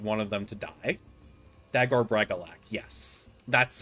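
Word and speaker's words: Dagor Bragollach: Dagor Bragalak, yes. That's how you pronounce it.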